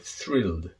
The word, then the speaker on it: thrilled: is also the word thrilled a lot of my students have problems pronouncing this word particularly as their french native speakers the th is very difficult but if you can